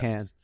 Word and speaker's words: Cannes: We don't pronounce the S. Cannes.